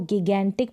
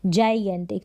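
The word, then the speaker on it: gigantic: हिंदी में लिखा है इसको ना तो जेनेटिक पढ़ेंगे ना इसको गिगैनटिक पढ़ेंगे बहुत ज्यादा कन्फ्यूजन राहत है इसको प्रोनाउंस करने में और ना ही इसको पढ़ेंगे क्या पढ़ेंगे जयंत तो यहां पर आप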